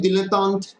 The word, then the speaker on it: dilettante: दू, he is a dilettante as far as the game is concerned. ठीक है, इट्स an Italian term, कोई कोई दिलेतांत भी बोलते हैं, करेक्ट है। ठीक है, वो वैसे उनको प्रोनाउंस करते हैं।